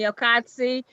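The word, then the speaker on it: Elkodssi: me console yes e-l-k-o-d-s-s-i and one more time pronounce it attorney okatsi okay are you ready to proceed with arraignment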